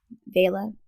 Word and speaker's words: vea: know that's how you say it but yeah vea I looked it up okay yeah um they